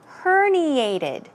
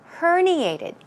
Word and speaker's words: herniated: spelling a pronunciation is herniated herniated stress goes right here another word for herniated